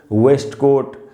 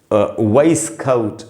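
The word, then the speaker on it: waistcoat: टी इसको अक्सर लोग वेस्टकोट बास्केट ये सब बोलते हैं। इसका सही उच्चारण ये रहा दोस्तों। वाइस कट देखिए वाइस फिर है कट वाइस कउट वाइस कटउट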